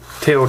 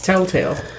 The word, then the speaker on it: Telltale: video game game character made by tail tail tail tail tail tail I said it right it sounded like you said tail taale I did say tail taale it's Telltale it's about the same I say the both